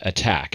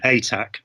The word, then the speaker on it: Atack: talk about Scientology, Jon Atack. Is that how I pronounce it, John? I'm a bit more peaceful than that. I say ATAC. ATAC. So more like a tack, like a thumbtack kind of a thing.